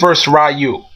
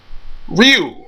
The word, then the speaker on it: Ryu: it was a Blanca rayu Ryu rayu whatever I like to say Ryu but I say I'm so used to saying rayu but I'm not here